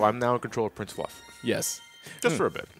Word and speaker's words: Fluff: the way I am prince fluff it rhymes with snuff prince snuff its fluff